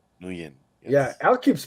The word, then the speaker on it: Nguyen: confirming that the last name is pronounced. You said Nguyen, right? Nguyen, Yeah, yes.